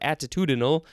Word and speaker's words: attitudinal: attitudinally is an adverb how many syllables does that have at two de novi six syllables uh that's a lot